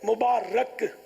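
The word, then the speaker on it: مُبارَک: آپ کو بھی شب معراج مبارک ہو۔ یہ مبارک غلط العوام ہے، غلط تلفظ ہے، مبارک یہ درست تلفظ ہے۔ پیارے آقا صلی اللہ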